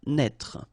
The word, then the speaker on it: Naître: Okay, same thing here for the circumflex. Write it, but don't pronounce it. Naître.